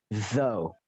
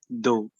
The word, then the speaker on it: though: Bacanya adalah though. Do. Kok do gitu loh? Kok do? No. Though. Lidah keluar. Though. Nah, baru kodok gitu loh. Hege-nya nggak dibaca di belakang itu.